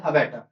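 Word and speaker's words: abattoir: शायद इसका प्रोनाउंस थोड़ा गलत हो रहा है। अबेटर अबे अबेटो बोलते हैं अबेटो। ठीक है? इसमें आर्ट प्रोनाउंस नहीं होता भाई।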